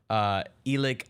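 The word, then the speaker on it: Elic: had a pair of touchdown passes, one to Elik Ioman. I always get his name wrong.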